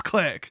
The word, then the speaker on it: Clique: vandalian clique or click i keep saying it wrong it's not clique it's click i should say in this language it's pronounced click anyway um okay i